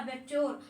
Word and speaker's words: abattoir: ठीक है, तो उसको बोलते हैं एबेट्योर। और इसकी स्पेलिंग आप एक बार यहाँ पर देख लीजिए।